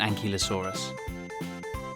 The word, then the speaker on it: ankylosaurus: you say that again an key low saw russ how big was an ankylosaurus it was as long